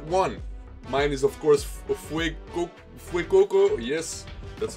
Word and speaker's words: Fuecoco: Mine is, of course, Fuecoco, yes, that's how you pronounce it.